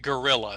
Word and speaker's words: guerrilla: Okay, so anyway, but Americans pronounce it gorilla.